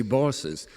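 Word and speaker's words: boss's: me that's very offputting nobody says boss there they say bosses generally in one syllable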